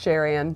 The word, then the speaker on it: Sharon: Yeah, we It's just Sharon, to be honest. Sharon. But they like to roll the R and make it fancy.